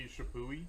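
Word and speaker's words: Chappuis: both muli and this guy uh I say chipe I know there's about 15 different pronunciations for the name John he shapi shapi thank you all right I cheated um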